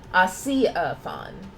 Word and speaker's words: Osiaphon: Osiaphon. Like Sia, the artist.